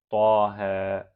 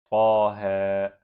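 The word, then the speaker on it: طه: The next one, taha. Taha. Pronounce ta with alif saghira and ha with alif saghira.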